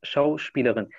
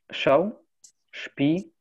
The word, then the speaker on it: Schauspielerin: حاول تكرر كلمة شاو شبيلرين. يعني ما لديكم مشكلة مع النطق يعني حاولوا تقسموها شاو شبيلرين. هو مع الوقت تتعودون على الأماكن التي تقطع فيها الكلمة.